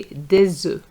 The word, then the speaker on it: des œufs: We you're going to say des œufs.